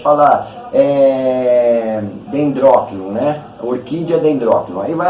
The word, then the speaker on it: Dendrochilum: Esse é o Dendrochium. Uns falam Dendróquilo. Eu estou falando como se escreve, né? Dendrochium. Mas como isso aí é em latim, o CH acaba se tornando um Q. Dendróquilo.